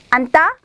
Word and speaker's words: 앉다: 그래서 앉다, 앉다, 앉다, 이렇게 발음해야 되는 거 기억하시고요.